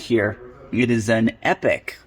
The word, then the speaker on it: Epoch: here it is an epic it's actually it's kind of spelled Epoch but my understanding is it's pronounced epic uh for of the